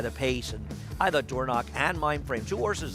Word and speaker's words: Dornoch: Belmont Stakes winner, as his son Dornoch, aggressive from the start there in the Belmont Stakes, or Dornick, I guess is the correct pronunciation we're saying too, Andy, and he